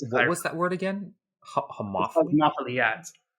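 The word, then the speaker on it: homophily: networks tend to form around what they call homopholy which is like similarity of of interests and tastes and things like that in the case of what's that word again? Homophy.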